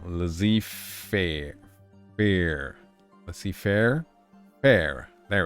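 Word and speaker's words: laissez-faire: like lazy all right the zed is silent zee yeah there we go lazy fair let's see fair bear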